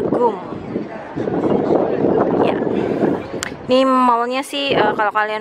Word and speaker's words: GUM: Jadi itu bacanya adalah GUM.